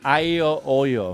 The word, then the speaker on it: aglio olio: pronounced aglio olio.